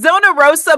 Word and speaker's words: Zona Rosa: It's Zona Rosa, but I like to say Zona Rosa and roll the tongue. Rosa. I'm coming to Zona Rosa, Kansas City.